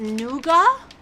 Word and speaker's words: nougat: of a Madman here it's pronounced nuga noua oh I didn't know